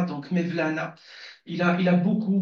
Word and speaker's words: Mevlana: il est vrai que Mevlana comme c'est s prononcé en turc et peut-être en PER je n'en sais rien mais en Arab on dit maoulana donc Mevlana il a il a